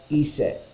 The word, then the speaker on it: Iset: The true Egyptian pronunciation is unknown. An Egyptian hieroglyph only recorded consonants and left out the vowels. The Egyptian hieroglyphics for her name are commonly translated as gist or as an convenience. Egyptologists pronounce that as Iset.